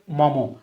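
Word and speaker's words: Maugham: গল্পটা এই William Somerset, এটা মুঘম না, এটার উচ্চারণ হচ্ছে মমো।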